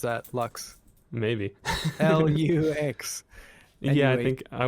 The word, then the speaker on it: Luchs: You can think about the Latin word for light. Oh. LUCHS. Okay. Maybe you pronounce that LUCHS. Maybe. LUX.